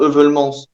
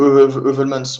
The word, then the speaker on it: Heuvelmans: C'est-à-dire Bernard Heuvelmans, ou Heuvelmans, on prononce ça un peu comme on veut, cryptozoologue belge, premier véritable